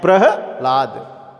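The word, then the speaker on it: प्रह्लाद: ह का उच्चारण है ल से पहले है, होता है प्रहलाद।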